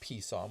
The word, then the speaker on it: PSOM: So it's an acronym, and it's PSOM, pronounced PSOM, which stands for Programmable Speedometer Odometer Module.